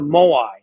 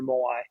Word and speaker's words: moai: It's called a moai. It's spelled M-O-A-I, moai, and it's a committed social circle of 4 or 5 friends, and they travel through life together.